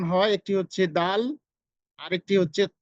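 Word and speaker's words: د: এই যে এখানে খেয়াল করুন, ওয়া মা আদরাকা আদ, এই যে আদ আমরা যে দাল উচ্চারণ করছি সেই দালটার স্থান জিহ্বার আগাটা একবারে সামনের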